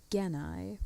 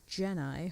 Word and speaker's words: Gennai: Side note, in this dub, they pronounce it Genai, which, yeah, made me cringe a little.